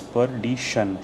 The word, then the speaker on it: perdition: Pronunciation is perdition, shun, shun, shun, perdition, perdition.